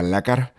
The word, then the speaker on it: lekker: and work on my lekker. Every time so lekker, Lekker, is Afrikaans for nice, cool, good. It's an affirmative adjective. Lekker, and you're supposed to roll your R's.